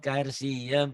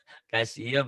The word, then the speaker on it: kalsium: laala kemudian ibu ksium karsium karsium kalsium ya enggak pakai r kalau karsium artinya apa